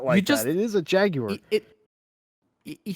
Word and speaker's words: Jaguar: a no it's a Jaguar it's like it's like a Jag and then a wire Jaguar Jaguar oh god that sounds so weird to say it why just it is a Jaguar it he says Jack